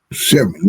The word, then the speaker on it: Chevening: If I pronounce that right, Chevening. Chevening, that's right, yeah.